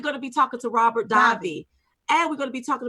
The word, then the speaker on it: Davi: we are going to be talking to Robert divine and his uh Dobby oh I said it wrong we come back we gonna be talking to Robert Davi and we're gonna be talking about his new